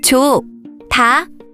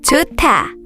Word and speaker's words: 좋다: 좋다, 좋다, 좋다, 좋다.